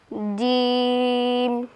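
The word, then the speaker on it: جيم: পরের হরফে তারপরের হরফ জিম জিম উচ্চারণের স্থান জিহ্বার মধ্যখান তার বরাবর উপরের তালুর সঙ্গে লাগিয়ে জিম জিম আমরা সংক্ষিপ্ত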